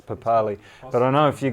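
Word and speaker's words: Papali'i: sorry one I now should we be pronouncing this pop alii like that like the like the man from the Warriors I think daven josh says that it's papaw Lee but I know if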